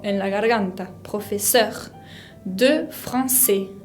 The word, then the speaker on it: français: la garganta, professeur de français. Français tiene esa C con cedilla característica del francés que se pronuncia como una S, y la S final no la pronuncio.